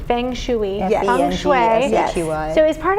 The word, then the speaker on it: feng shui: English way feng shui yeah be a baby it's spelled f ing right space s Feng shooey Feng shooey yeah yeah so as part of that like